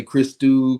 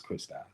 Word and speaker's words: Christou: with me throughout you know most people say Christo kristo you know which isn't wrong but you know the way I pronounce is Christy yeah I was gonna mess it up that's